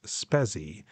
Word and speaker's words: Spezi: I believe it is pronounced Spezi, S-P-E-Z-I, and it is the orange and cola blend.